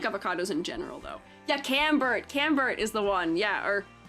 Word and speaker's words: Camembert: Yeah, Camembert is the one.